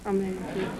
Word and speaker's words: Medici: Medici. M-E-D-I-C-I.